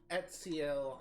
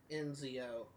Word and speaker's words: Ezio: It's Ezio Auditore, not Enzio.